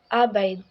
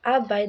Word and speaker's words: abide: it's permit not permit abide again the stress falls on the second syllable bide making it a bide not a bide number five is aong